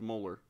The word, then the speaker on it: molar: to write to sate okay and this is pronounced molar okay so if we have a two molar